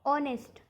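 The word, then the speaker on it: honest: यहां पर हो गया ऑनेस्ट तो बहुत लोग इसको नेस्ट पढ़ते हैं तो यहां प यहां पर भी एच हमारा साइलेंट लेटर ओ से हम य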